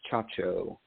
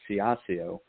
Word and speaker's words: Ciaccio: So, it's Chacho. So, my parents pronounced it the way you said it, fiasio. Uh my great-grandfather Americanized it when he came from Sicily in the early 1900s, but I I brought it back to Chacho because I studied Italian